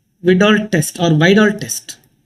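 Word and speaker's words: Widal: A famous test is called vidol test or vol test. The pronunciation may be differ. I love to call this a vital test and many people say vidal test no problem.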